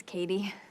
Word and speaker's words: Cady: Her name is Cady. Cady Heron. Where are you, Cady? That's me. It's pronounced like Katie. Her name is Cady? It's Katie. Katie Heron.